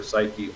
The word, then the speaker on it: psyche: If it evokes an emotion, emotion is part of your psyche, part of your soul. The Greek word psyche is it's an ancient Greek word, but it's pronounced in English psyche, Psyche.